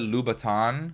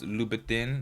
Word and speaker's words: Louboutin: I just feel like every girl out there will probably like correct me because I always call it Louboutin, you know, like the shoes, the red bottom shoes, but it's Louboutin.